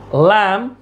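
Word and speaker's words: lamb: यहां पर बी क्या है? साइलेंट है।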